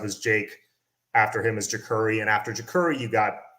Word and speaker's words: Jacurri: this guy right here jacuri brown not your corey not jakari jakuri i feel like i have to say that because it's a lot of people mispronounce his name it's jacurrie brown um and probably he's